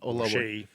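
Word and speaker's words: Oluwaseyi: Olaweshi.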